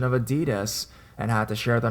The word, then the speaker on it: adidas: the proper pronunciation of Adidas and had to share the knowledge with my friends its adidas I said not ideas out of nowhere our